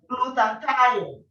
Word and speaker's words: glutathione: If you can't pronounce it, just divide it into 3. Say glue, tie, on.